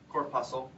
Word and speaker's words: corpuscle: what we call the renal corpuscle or corpuscle corpuscle is really the proper pronunciation that includes What's called